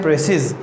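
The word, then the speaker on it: précis: इसको अगर आप स्पेलिंग देखें तो ये लिखा है प्रेसिस और अगर आप इसको प्रोनाउंस करते हैं तो इट इज़ प्रेसी.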